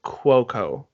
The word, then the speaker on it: Cuoco: it's easier but Ryan Seacrest was calling her Cuoco kwo cuoco so that's how it's officially pronounced but the actress is pretty easy easy